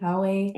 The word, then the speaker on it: Huawei: Is it Huay? Huawei. Huawei. Huawei. Huawei. Yes. Huawei.